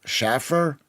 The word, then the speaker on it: Schaffer: I mean, I can't complain about my name, because my name is pronounced Schaffer, School, Schaefer.